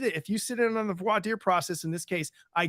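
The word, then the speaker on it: voir dire: that as you sit during the void deer process or as a judge in Texas once called it boar Dyer um but it's really voitier um pronunciations then and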